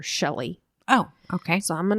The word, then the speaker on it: Shilie: So her name is spelt Shilie, Shilie. Oh. But in interviews and things, her family and friends called her Shelly.